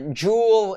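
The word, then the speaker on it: Joule: mistaken it's pronounced j-o-u-l-e like the um like the international metric system measure of energy so uh jool is um one browser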